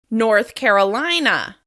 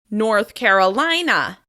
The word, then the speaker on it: North Carolina: This state is stressed on the third syllable of the second word. North Carolina. North Carolina.